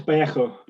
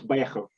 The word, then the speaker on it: Vallejo: Alex Vallejo. 20-second Spanish lesson. So Alex is Alex, and then V in Spanish is a B, double L is a Y, and a J is like an awkward sort of scouse that you get in echo.